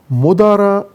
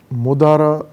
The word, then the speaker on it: مدارا: تے کے ساتھ ہے، لیکن اس کو تلفظ میں تے تلفظ نہیں کرتے، ہے ہوتی اور آہستہ آہستہ لکھنے میں ہے الف میں بدل گئی ہے تو لکھتے بھی الف کے ساتھ ہے، مدارا، میم دال الف